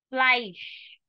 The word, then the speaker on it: Fleisch: Fleisch. Sure sound at the end, it means meat.